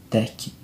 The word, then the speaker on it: Tecna: A Tecna, isso, Tecna, tá certo.